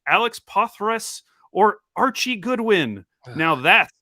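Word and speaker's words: Poythress: Is it, how do you say Pothras? Pothras? I don't know. I've read that name a lot in my time. I don't think I've ever tried to say it. It's pronounced Poithras.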